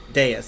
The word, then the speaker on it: Dais: Dais, that's how you say it.